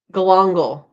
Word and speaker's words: galangal: Galangal.